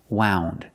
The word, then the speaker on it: wound: so pronation wound up use the ow sound like out and about wound this is our adjective